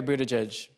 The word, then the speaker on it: Buttigieg: Mayor Buttigieg, did I pronounce it right?